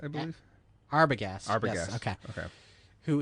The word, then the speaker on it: Arbogast: Arbogast, I believe. Arbogast.